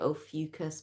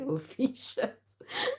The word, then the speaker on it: Ophiuchus: People pronounce it Ophiuchus, but that just sounds like, it sounds like vomit to me, so I like to say Ophiuchus.